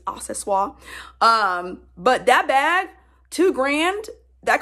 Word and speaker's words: accessoire: It also reminds me of the Louis Vuitton multi-pochette accessoire, which is spelled accessories, but in French it's accessoire.